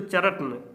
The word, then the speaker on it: चरण: यहीं पर क्या देखिए र और ना है ना तो चरन क्या बोलेंगे आधा त लगा देंगे तो ये हो गया ना उच्चारण चौधरी चरन सिंह अब चौधरी चरण सिंह